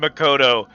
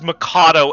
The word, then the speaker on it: Makoto: One of them is named Makoto. A second main character is capable of pronouncing Makoto. The third main character says Makato every single time. It's literally an O.